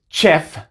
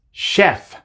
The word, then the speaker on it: chef: No es chef como en español, sino que es chef.